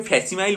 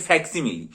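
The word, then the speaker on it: facsimile: যে কথাটা রয়েছে সেটা হচ্ছে ফ্যাক্সিমাইল এটার যে উচ্চারণটা সেটা করতে গিয়ে আমি ফ্যাসিমাইল বলে ফেলতাম অনেক সময় কিন্তু এর প্রকৃত উচ্চারণ এবং বানান যেটা সেটা হচ্ছে এফ এস সি আই এমই এ উচ্চারণ হচ্ছে ফ্যাক্সিমেল কিন্তু অদ্ভুতভাবে ওয়েবসাইটে যেটা রয়েছে পিডিএফ এ সেটা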